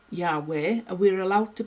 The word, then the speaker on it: Yahweh: but anyway, little Yod-Heh-Waw-Heh, however Yod-Heh-Waw-Heh is actually pronounced, we don't thoroughly know, but there's indication that it is Yahweh, and we're allowed to pronounce it when we're teaching, so there we go.